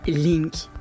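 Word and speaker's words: Lynk: L'application s'appelle Link et s'écrit L Y N K.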